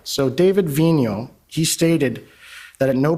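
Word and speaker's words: Vigneault: name we've all been debating about how to pronounce it properlyo all right so David Vino he stated that at no point of the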